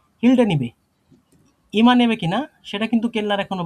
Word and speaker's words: Stück: এটা Stew হ্যাঁ stroke হ্যাঁ, এখানে কিছুটা ঠোঁট গোল করে স্টুক স্টুক অর্থ হয় যে